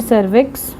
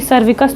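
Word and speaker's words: cervix: आई एक्स वी आई हां सर्विक्स बोलते हैं इसको। ये सर्विकस तो नहीं है। ये प्रोनाउंसिएशन करेक्ट है। ये सर्विक्स है।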